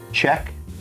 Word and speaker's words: Cieck: Uh Chec, as it's pronounced, is the producer.